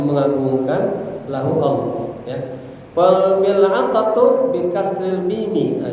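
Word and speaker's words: ملعقة: Cara bacanya mil'aqa itu bi kasril mim, huruf mimnya dibaca kasrah, maka mi. Wa sukunil lam, lamnya disukunkan mil, ya. Wa fathil ain, ainnya dibaca fathah, jadi mil'a, baca mil'aqa, artinya sendok.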